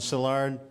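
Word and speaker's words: Szilárd: France's list and I is e Leo is pronounced Leo and salard card but to make things even harder like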